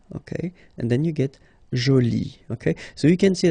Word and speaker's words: jolie: and then you get joli. Okay, so you can see that you put this E but then you don't pronounce it.